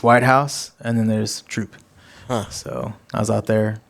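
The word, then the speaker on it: Troup: what's the Tyler there it's spelled like soup but it's troop okay it's just like just woods and like one L post office like Tyler and then there's white house and then there's troop so I was out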